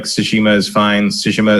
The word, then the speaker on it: Tsushima: So Tsushima is an actual place. So I assume there is a common pronunciation for it. But which syllable is stressed in Japanese can vary by person sometimes. Yeah.